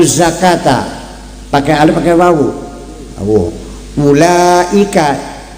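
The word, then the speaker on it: أولئك: pakai alif pakai wawu ulaika alif wawu tapi bacanya pendek kan betul enggak bukan ula kan enggak kan ula kenapa s ada wunya nya.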